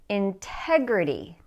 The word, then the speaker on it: integrity: where the stress is integrity so the stress is on the second syllable Integrity Integrity then look at